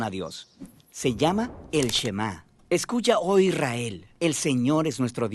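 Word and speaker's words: שמע: La primera palabra del Shema es oye o escucha, y en hebreo se pronuncia Shema.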